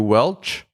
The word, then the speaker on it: Welch: Andrew Welch. I always say his last name incorrectly, but that's how you say it, because it's like Welch's grape juice.